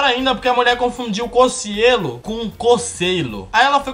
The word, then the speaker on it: Cocielo: monte de problema primeira parte que o pessoal pronuncia errado ao invés de falar cocielo o povo fala cocielo isso aí isso aí eu já acostumei já